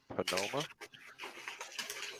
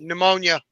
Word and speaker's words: pneumonia: from Paul he said he had panoma I pronouncing that right oh John from preper Nation yeah I guess he got it too pneumonia he said he had pneumonia oh that okay pneumonia all right I forgot the